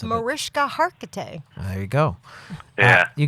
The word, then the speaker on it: Mariska Hargitay: You did get to work with, and I'm going to get her name wrong because I don't know how to pronounce it. Mariska Hargitay.